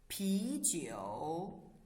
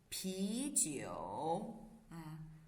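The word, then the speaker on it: 啤酒: is what beer right how does the beer in chinese read after me pigeo pigeo okay so how to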